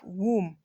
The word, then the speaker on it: womb: some things to you there are a number of words with silent B in English so we have womb thumb comb climb plumber bomb in all of these words are more the B is silent so you're going to